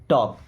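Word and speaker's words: talk: have फथ विश्वास रखो या भरोसा रखो okay then टॉक properly टॉक देखिए यहां पे एल साइलेंट है ओके टॉक टॉक का मतलब क्या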